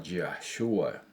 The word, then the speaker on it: Yahshua: verdadero nombre del Mashiach, que cómo se pronunciaba, y se pronunciaba Yahshua.